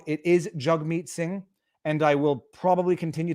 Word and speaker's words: Jagmeet Singh: up with jagmeet and i only recently realized it was it was pronounced jug meat i actually thought people